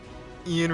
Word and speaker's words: Ian: Ian rhymes with peeing.